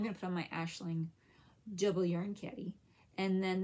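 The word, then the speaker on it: Aisling: Farms the yarn CAD is Ashling Yarns but but it's a i s l i n g so I don't think my hands going the right way but that's that's how you say it and how you spell it um what else have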